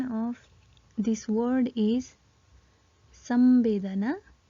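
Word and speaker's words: संवेदना: Pronounce using Okay, so the pronunciation of this word is Sambedana, Samabedana or Sambedana.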